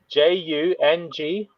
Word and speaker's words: Jungian: How do you say that? Jungian. Ian. Jungian.